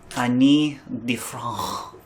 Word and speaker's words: Ani DiFranco: Because Anya? I lost my mind recently. You're doing the Anya? Annie? So Ani DiFranco? Ani DiFranco. It's pronounced DiFranco.